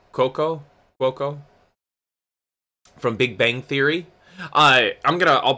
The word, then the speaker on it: Cuoco: Cuoco? From Big Bang Theory. I'll put it in the... It's just called Harley Quinn. I'll drop information about this. Kuko, thank you.